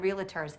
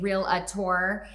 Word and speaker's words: realtor: promise you that we are the best damn realtors in town they're actually the only realtors in town because the rest of us pronounce it realtors yeah that's what you said